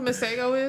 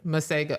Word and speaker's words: Masego: It's M A S E G O. Masego. Okay. I believe it was this week where he was performing and he basically was like, "The Americans, they're so dumb. They've been pronouncing my name wrong. It's Masah."